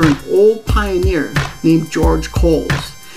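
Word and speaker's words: Cowles Mountain: I was also pronouncing it wrong too. It's pronounced Coles.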